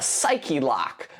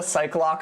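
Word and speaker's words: Psyche-Lock: Did I call it a psych lock earlier? You'll have to forgive me if I did. That was my middle school pronunciation because I had never seen psych by itself before. Only I'd only seen, you know, psych as a component of like psychic and psycho and stuff.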